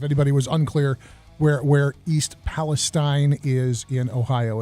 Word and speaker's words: Palestine: Palestine, not Palestine. Which I had somebody somewhere hit me with the mnemonic, Steen is mean, Stein is fine.